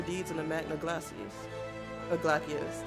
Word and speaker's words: Glacies: Glacius, that's how it's pronounced.